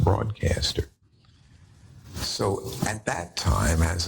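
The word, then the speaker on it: Broadkaster: but they had broadcaster spelled with a K rather than a c but still pronounced broadcaster so at that time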